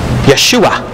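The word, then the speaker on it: ישוע: spirit also empowered Joshua Yeshua is how they pronounced it later on centuries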